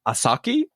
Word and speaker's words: 4s4ki: uh young artist uh is an artist named asaki uh it's spelled 4s4ki okay and she's just doing really